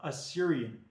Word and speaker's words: Assyrian: he wears, it's called Assyrian. Don't confuse it for Syria. Syria is the exact same spelling and pronunciation as Assyria. The only difference is there's an A in front of it.